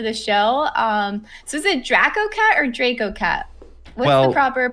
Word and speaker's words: DracoCatt: I guess it's just the pronunciation of the A that changes. So, but I say DracoCatt.